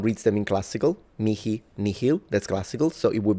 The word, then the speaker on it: nihil: them in classical mi nihil that's classical. So it would be out of place in an ecclesiastical pronunciation. Two varieties. You have two varieties. Either you completely mute the h and you say nil me.